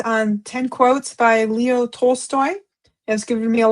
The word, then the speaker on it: Tolstoy: 10 divine quotes from Leo Tolstoy. I hope I said that Tol- right. Tolstoy. Yeah, you said it right.